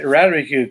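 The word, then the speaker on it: ratamacue: Radamacue goes. So it goes Radamacue. So there's a syllable for each strike.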